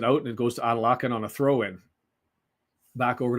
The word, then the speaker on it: Adelakun: Okay, we've got the pronunciation as Cannon just puts it out, and it goes to Adelakun on a throw-in.